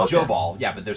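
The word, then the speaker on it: Jobal: o b a l so it's it's it's joall yeah but they're saying pronounced as joall okay that's that's how they're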